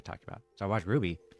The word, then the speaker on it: RWBY: also did stuff for shown name Ruby but I pronounced RWBY for the longest time because I never actually said it out loud.